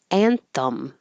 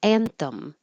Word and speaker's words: anthem: Anthem. It can be thumb or thim. It won't matter because it's going to be very short. It's not stressed. Anthem.